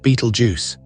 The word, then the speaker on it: Betelgeuse: English speakers often pronounce it Beetlejuice. A convenient, if somewhat undignified, rendering of an ancient name.